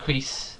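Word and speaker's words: crys: Well, I call it crease. It means shoot in Welsh. It's technically, she pronounces it Chris, I think, but it's crease.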